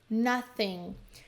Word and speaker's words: nothing: Nothing. Não pronuncia esse G no final, tá? Nothing. E o TH precisa tá aí, né? Nothing. Não vai usar. Muita gente usa o som do F, né?